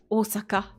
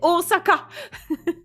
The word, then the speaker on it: Osaka: grande pente et n prononcez plus jamais Osaka avec un Z parce que a pas de Z il y a pas de Z ici en japonais c'est Osaka je me suis battu